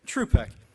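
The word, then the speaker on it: Trzupek: Our first speaker is Richard Truspeck. Did I pronounce that right? You just ignore that Z. Okay. Truspeck, a chemist who specializes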